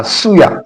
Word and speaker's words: suya: Suya Suya that's the pronunciation Suya.